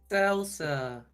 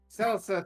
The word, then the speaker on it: Celsa: How do you say your town's name? I'm so sorry. I haven't been here, and I've been Salsa. Celsa. Thank you.